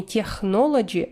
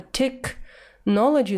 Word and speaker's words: technology: Слово technology я не прочитала с ошибкой, но действительно читается не technology, а technology. Нужно просто запомнить этот момент.